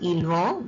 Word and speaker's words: ils vont: Ils vont, S is silent, T is silent, ils vont, they are going.